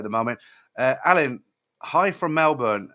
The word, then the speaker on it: Melbourne: Alan, hi from Melbourne. I always get told off for pronouncing Melbourne or Melbourne. I get all the Australians like, you don't say it like that.